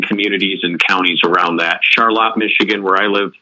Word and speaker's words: Charlotte: of the surrounding communities and counties around that Charlotte Michigan where I live spelled like Charlotte we pronounce it Charlotte here in Michigan but other surrounding small towns